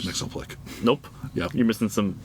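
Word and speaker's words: Mxyzptlk: I am just, after all these years, okay with Mixoplick. Right. And then I heard somebody pronounce it differently, and I'm like, I will punch you in the face.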